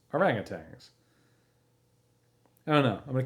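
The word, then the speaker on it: ourang-outangs: the contrast is inimitable I'm wondering now just the way that it's spelled if it's supposed to be orangutans because it's o-u-r-a-n-g Dash o-u-t-a-n-g-s like it feels like he's making it fancy and foreign sounding urang utangs instead of just orangutans I don't know I'm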